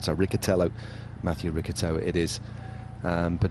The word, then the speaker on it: Riccitello: We're always listening to trying to get the correct pronunciations right. So Riccitello, Mathieu Riccitello it is.